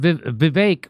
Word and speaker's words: Vivek: So here's what Vivek, which rhymes with stomachache, he says, NPR's new